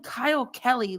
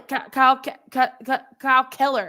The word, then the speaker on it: Kyle Keller: How many times do you have to mispronounce our coach's name? They called him Kyle Kelly like 3 times. Yes. Like, you called him Kyle Kelly, Kyle Keller.